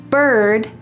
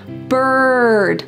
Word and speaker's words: bird: There are three words early, bird, and worm that use a colored R. So in American English, this R is a strong hard sound. Bird.